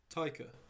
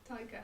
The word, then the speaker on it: Taika: Yeah, it's got Chris Evans and Takia Waititi in. Takia. Takia? Who's Takia? Who's Takia? Let's have a look. Takia Waititi? Taika. Tiger. I fucking said his name wrong.